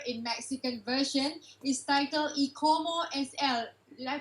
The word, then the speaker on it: Y Como Es Él: My Wife's Lover in Mexican version is titled Y Como Es Él. Did I pronounce that correct?